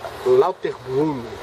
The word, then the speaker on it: Lauterbrunnen: aí é meio alemão é se escreve lutun mas esse fala lauter Brun não meio esquisitão deixa